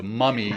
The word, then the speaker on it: MVMI: It's spelled MVMI, so the V is pronounced like a U. So Mummy Sleep.